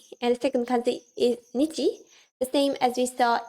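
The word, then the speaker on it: 日: Not necessarily like this kanji in Nihongo stands for simply ni, but here it means nichi. So the pronunciation is different, but the meaning is the same.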